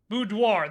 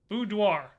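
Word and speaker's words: boudoir: Budoir, thank you. I knew I was not pronouncing that correctly. Thank you, Budoir.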